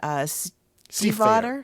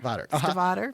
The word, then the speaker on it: Stiefvater: yet, and it's called The Listeners by Megan Stiefvater. Stiefvater. Okay. We had to actually listen to a video to get the pronunciation kind of right.